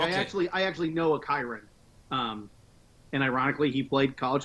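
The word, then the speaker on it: Kyren: Kyron. Okay, because people have been giving me crap about how I pronounce his first name. I always thought it was Kieran, so it's Kyron.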